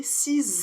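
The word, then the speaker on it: six: va faire la liaison en prononçant le X comme un Z par exemple j'ai 6 ans et donc on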